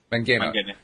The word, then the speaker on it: Mangina: Is that the way you pronounce it? Mangina? Mangina. Yeah.